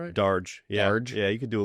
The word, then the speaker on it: Darge: Did I pronounce that right? Darge. Yeah, you could do a little fine. Yeah, that's cool. Darge.